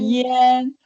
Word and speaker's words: 盐: Yen. Okay, this one, even though it writes as IAM, but it's actually pronounced as IEN for no good reason.